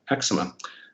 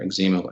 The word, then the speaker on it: eczema: I was diagnosed with adult eczema, or eczema as we pronounce it here in Canada.